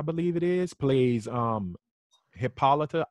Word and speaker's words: Hippolyta: it is plays um hippolyta i say hippolyta but they say hippolyta in the show as his wife and